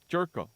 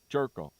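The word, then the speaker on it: Gyorko: to pronounce jerko jerko remember that when you see that in writing you see Jed jerko for the San Diego Padres and it's pronounced and it's spelled g y r KO it's Jed jerko jerko they're going to be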